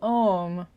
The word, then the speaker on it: Om: reflecting on, I mean, the way it's explained is Aum. Not that you would say it that way, but like the root syllable or the root letter is A, the vowel marker is O, and then the little designation, anyway, it's a little bit technical, but the little semicircle and the dot above the syllable mean that it's Om instead of O.